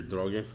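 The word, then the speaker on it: Droege: Let me turn now to Professor Peter Droge. That's the right pronunciation.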